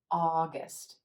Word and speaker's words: August: ah ah August August again that first syllable that ah sound is going to be stretched we're going to say it a little longer with a little more energy the second syllable in contrast is gonna be quicker quieter August August it's typically